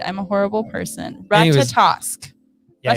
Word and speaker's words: Ratatosk: Ratatosk. Yeah. Ratatosk.